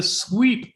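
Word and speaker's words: SWEAP: we come to the sweep instrument solar wind electrons alphas and protons sweep uh and yes it's not spelled like sweep the floor but there you go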